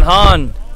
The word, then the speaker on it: Hahn: And here's the other Hahn, spelled differently, Burton Hahn. Sean's last name is spelled H-A-N. Burton's last name is H-A-H-N.